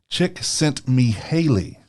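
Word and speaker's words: Csikszentmihalyi: can't say his name chick sent me Haley there you go okay so sent me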